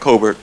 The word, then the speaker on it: Cobert: uh first of all it's Cobert I know they butchered it but uh I'm here